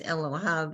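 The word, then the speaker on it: אֱלֹהָיו: The first one is Elohav and the second is Elohai. okay, Yud Vav is pronounced Av. Yud Vav Vav, is pronounced Rachamav. Yud Vav is pronounced Av at the end.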